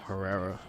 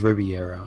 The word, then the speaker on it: Herrera: I just helped your career, Alfonso Herrera, whatever your name is. I think it's Riviera. Riviera. I forget. It's Herrera. It's Herrera. It starts with an H.